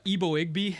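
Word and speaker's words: Eboigbe: the Chargers Justin uh ebo igby is my is is is my U interpretation uh kind of similar to igog if you remember from last year a little bit I'm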